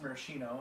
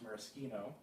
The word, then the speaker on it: Maraschino: oun of Marino lure which I used to pronounce Marino and I think most people do but I have from no less of an authority than Rachel madow that is correctly pronounced Marino because it's made from morasa cherries and then